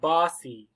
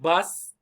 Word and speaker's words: bossy: so bossy bossy bossy where's the stress bossy bossy which one is louder longer bossy bossy number one this means that this vowel is very important for pronunciation ah it's short like octopus uh uh october ah right it's not o boci bossy bossy right bossy bossy not bus like i take the bus to go work i take the car